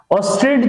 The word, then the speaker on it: Oersted: बच्चों क्लियर करो कि एक जो है साइंटिस्ट थे, फिजिसिस्ट मतलब OERSTED, स्पेलिंग बड़ा जो है खतरनाक है, प्रोनाउंस भी बड़ा अजीब सा है। ठीक है, ऑस्टेड जो है पढ़ते हैं बच्चों, ऑस्टेड्स कॉन्सेप्ट।